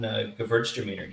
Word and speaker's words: Gewürztraminer: And good call on Gewürztraminer. You did perfect on that pronunciation.